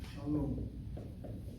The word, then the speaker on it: shalom: It has 2 syllables. The shin letter has a kamatz under it. A short vowel, open syllable, is not possible unless it's accented. But if you look at the second syllable, the CVC here you have a long vowel, which definitely must be accented, which tells me that